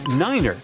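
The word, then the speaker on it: niner: some Mega secret code it's the way Pilots pronounce certain numbers in their pilot English tree stands for three five for five and ner is used instead of nine such pronunciation helps to avoid radio miscommunications and the confusion caused by similar sounding numbers uh we're just finishing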